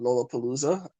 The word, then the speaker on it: Lollapalooza: When you did that, is it called Lollapalooza? Am I Oh pronouncing yeah, correctly?